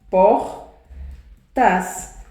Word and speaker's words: portas: É o que acontece com portas. O por não é mais forte? É mais forte, é a minha sílaba tônica.